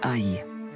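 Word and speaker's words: 爱: Par exemple, dans les territoires mandarins, le caractère graphique de l'amour est prononcé ai. Mais en cantonais, le même caractère est prononcé nuo.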